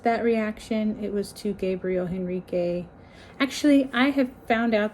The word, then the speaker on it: Gabriel Henrique: Henrique written like that, so I thought his name was Gabriel Henrique. It's Gabriel Henrique, and I've been saying his name wrong this entire time.